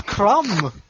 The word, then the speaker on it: crumb: What is crumb? We don't have crumbs here. Exactly. I mean, they wouldn't anyway because there's a silent B in there. Nobody likes silent B.